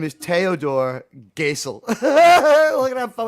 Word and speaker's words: Theodor: guy's name is pronounced Theodor gel it sounds funny if you're American it's teodor G gel because in in European you go with the uh second vow right so Admiral